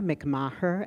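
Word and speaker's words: McMaher: um next I call Asher mcmah they then pronounce um trans up fronts Illinois hello everyone my name is Asher a he R MC mahur MC m a h e r and my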